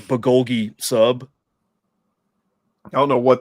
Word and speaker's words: bulgogi: Yeah, so you can get like a fucking badass like bulgogi sub. I don't know what that is, but it sounds fat. Bulgogi's a beef, Korean beef dish.